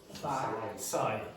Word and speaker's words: sigh: Sigh. Yeah, don't pronounce the GH.